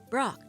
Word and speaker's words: Brok: about it go ahead say my name it's pork of course no it isn't yeah Brock Chief I thought you knew each other well